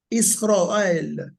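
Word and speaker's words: ישראל: It's called Israel, and the A in the word Israel comes from the tsere. It's A, but it's a longer A. So it's almost A. Like the kamet is ao, the tsere is A. It's A, yeah. It's E rather in English. So that's why when you actually mention the name Israel in Hebrew, it's Israel, Israel.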